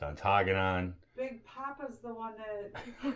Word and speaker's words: Ontonagon: It's Baraga, it's Ontonagon. Big Papa's the one that corrected our pronunciation, not pronunciation.